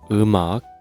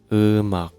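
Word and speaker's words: 음악: Eumak. We write like this. eum ak Right. Sorry for my stupid drawing. Eumak, when we write, when we pronounce it, eumak.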